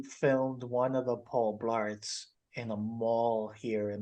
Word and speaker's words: Blart: have to call Paul Blart because it rhymes with Paul fart like you know they